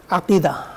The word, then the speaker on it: আকিদা: অবিচ্ছেদ্য একটা অংশ হলো আকিদা আকিদাতুন আইন কফ ইয়া দাল শেষে তা আকিদা এভাবে উচ্চারণ করা হয় শব্দটা এসেছে থেকে